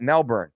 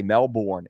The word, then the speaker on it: Melbourne: greetings from Melbourne Melbourne see how I said that Melbourne most of the Americans say Mel born its Melbourne Mariana parry quick question